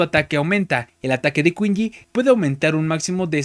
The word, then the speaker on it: Qingyi: de kinji o o shinji porque creo que la cosa pronuncia como ch en en chino Así que no está